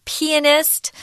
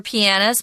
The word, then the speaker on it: pianist: Or pianist also has an alternative pronunciation, which is pianist. I prefer pianist, but they're both correct.